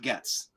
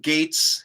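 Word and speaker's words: Gaetz: Gates or gets like Gates one million percent Gates not gets yeah that's I've always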